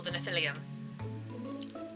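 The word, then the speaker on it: Nephilim: them herself and they're called shadow hunters or the Natalia that's how you say it so yeah in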